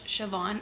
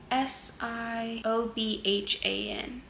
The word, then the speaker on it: Siobhan: like I'm very much sioban in this book well that's what her name her name is spelled s i o b h a n I think that's Siobhan right very much resonate with